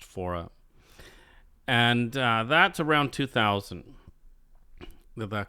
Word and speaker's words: Faure: So I believe this is from, I know this is on the CD pronounced Faure.